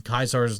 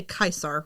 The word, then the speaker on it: Caesar: There's, I think, the Legion, Caesar's Legion or Caesar's Legion actually has a currency, and then there's also bottle caps. They say Caesar, right? They say Caesar, but really it's Caesar.